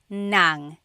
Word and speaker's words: ng: And then if you want to add an object the sentence marker here is nang n g nang.